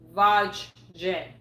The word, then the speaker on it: Vajda: And by the way, when you pronounce his name, it's Vajda.